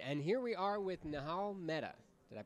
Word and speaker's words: Nihal Mehta: All right, and here we are with Nihal Mehta. Did I pronounce that right?